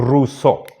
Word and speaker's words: Rousseau: alto un el famoso rousseau Jean Ja rousseau ginebrino ruso está en francés el este diptongo suena como u se pronuncia en francés como u y este triptongo como o ruso janj ruso Él tiene